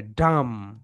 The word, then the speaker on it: dumb: Letters M অ্যান্ড বি, যেহেতু এখানে এম অ্যান্ড বি রয়েছে, এই কারণে বিটা কি হয়ে যাবে? সাইলেন্ট। বিটা কি হয়ে যাবে? সাইলেন্ট। শুধু এম এর উচ্চারণটা হবে ডাম, ডাম, ডাম।